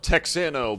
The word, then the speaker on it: Texano: it's t it's no the x is pronounced as the j okay okay okay it's spelled texano but it's pronounced that's